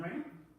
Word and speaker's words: Ringham: My name is Raynham. Last name spelled like a ring on your finger. Ham on a sandwich.